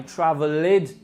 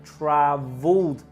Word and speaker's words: travelled: I travelled to the beach, which should be pronounced I travelled to the beach. No extra syllable.